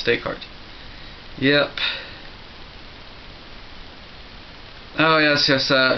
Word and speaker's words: Descartes: kuu not not Kos same with decart it's not Descartes it's decart yep oh yes yes